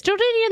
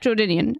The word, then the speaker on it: Jordanian: are you are Jordanian is jordian the correct way to say like is that the proper uh is that the proper adjective I don't know yep Jordanian so yeah no stick